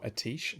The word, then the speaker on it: Atiesh: Which famous mage owned Atiesh, or Atish, as some people like to pronounce it, Great Staff of the Guardian?